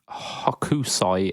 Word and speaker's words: Hokusai: So the Fender Hokusai, yeah, that's how you pronounce that.